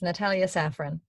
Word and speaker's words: Natalie Safran: Am I pronouncing that right, Natalie? Yeah, that's right. It's Natalie Safran.